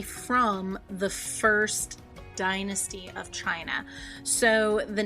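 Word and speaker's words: Qin: the first dynasty of China so the name of that dynasty is the Chin Dynasty it is q i n is where we get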